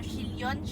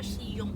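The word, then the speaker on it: Chillon: Ayan o, Shilyon. Pero Shiyong ang pronunciation.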